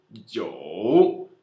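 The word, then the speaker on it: 九: Jiu.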